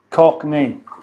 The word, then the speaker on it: Cockney: might by bye Polo I say Cockney Cockney that's a two syllable word major strap on not